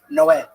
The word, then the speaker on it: Noé: the Spanish translation, it's Noe is Noah, but it's pronounced Noé.